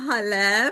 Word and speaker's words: Hale: So, I'm Hale, pronounced like Hallelujah.